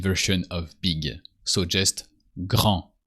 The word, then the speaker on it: grand: So just grand. You don't pronounce the D of grand because you remove the E. So when it's masculine, it's grand.